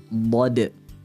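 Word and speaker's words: ضاد: Biasanya, ada yang baca huruf Dad itu seperti huruf Dal. Ghairil maghdubi alaihim waladdo. Nah, ini huruf dal. Hati-hati teman-teman. Perbedaan dad dan huruf dal. Huruf dal itu diucapkan dari ujung lidah kita, ya. Sedangkan huruf dad, posisi makhrajnya bukan di ujung lidah, melainkan di tepi lidah atau di sisi kanan dan sisi kiri lidah kita, dekat dengan geraham.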